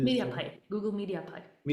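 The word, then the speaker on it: MediaPipe: Uh one last thing the the Google the the first thing you talked about the Google open how do you say media pipe Google media pipe media pipe this is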